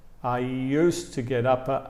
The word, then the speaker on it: used to: Fija también la pronunciación aquí, porque la pronunciación, mira, mira cómo le digo, cómo suena cuando hablo. I used to live in England. I used to live in England. Realmente no se escucha el de aquí.